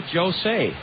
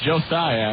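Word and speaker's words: Joseye: Okay, I would say hello, Jose. Close. Josiah, actually. Josiah. Uh-huh. Okay. S-E-Y-E. That's correct.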